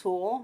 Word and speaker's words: Fool: at the end so my name is mrs. fool and you can remember that because it rhymes with pool so in addition to